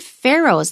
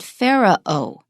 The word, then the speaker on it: Pharaohs: god now the word pharaohs that spelling looks kind of weird and hard to pronounce I pronounce it only as two syllables I'm familiar with this